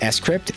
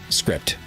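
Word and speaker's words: scrypt: how it's pronounced it's s crypt it's not script weird i know but think of it like cryptography s cryptography s crypt i know raise your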